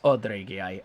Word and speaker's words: Dreigiau: It's Dreigiau. It is so hard to remember to pronounce that as a schwa.